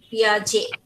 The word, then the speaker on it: Piaget: পিয়াজে। আচ্ছা, J. আর ইয়া, ওটা টি উচ্চারণ হবে না, টি অ্যাবসেন্ট থাকবে।